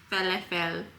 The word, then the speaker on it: falafel: So I got falafel, falafel, is how my friend told me to pronounce it.